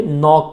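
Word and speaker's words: knock: नॉक नॉक, इसका के silent है, इसको कनॉक नहीं बोलेंगे बल्कि नॉक बोलेंगे, नॉक।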